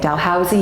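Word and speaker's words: Dalhousie: for d d Housey I've been corrected on how to say it Dal Housey University and when my son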